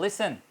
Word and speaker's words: listen: For example LISTEN, अब T silent हो गया क्योंकि ई से पहले वो यूज़ हुआ किसी भी वर्ड के अंदर। तो लिसन, अब देखें बिटवीन द वर्ड ये टी साइलेंट हो गया।